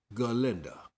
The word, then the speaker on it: Galinda: Galinda. But uh Ginda, it's not Ginda. It's G. You can't you Hey, it's like wheezy, baby. You got to say the G, baby.